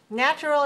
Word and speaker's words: natural: Now, natural is pronounced with a stress on the first syllable.